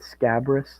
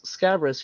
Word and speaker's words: Scabrous: I always said Scabrous, like a scab, but then Yeah, that's what it sounds like.